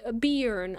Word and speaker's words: Bern: By the way, Bern is pronounced Beern.